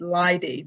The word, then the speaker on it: Laide: My name is Laide. Some pronounce it Laide, depending on which you choose. Either way is fine.